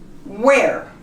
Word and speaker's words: where: The word starts with a W, as in white, the H is silent. Where?